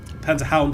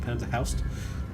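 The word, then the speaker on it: Panzerhund: Panzerhound, I should say, not Panzerhaust. Quick.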